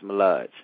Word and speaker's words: Mullage: am I am am I saying it correctly malage yes yeah yeah yeah it's Mal it's malage malage okay all right we got malage in